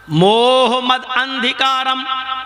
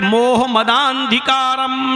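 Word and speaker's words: मोहमदान्धकारम्: मोह मद अंधिकारम, हिंदू भाई इस पर एतराज कर सकते हैं क्योंकि उच्चारण ये नहीं है, प्रोनाउंसिएशन ये नहीं है। प्रोनाउंसिएशन क्या है उसको मैं अब पढ़ रहा हूं। अज्ञान हेतु किरत मोह मदांधिकारम नाशम विधायम हितदोदयते विवेका। मोह मदांधिकारम नाशम, मोहम्मद के दा को आ से मिलाया जाएगा और खींचा जाएगा।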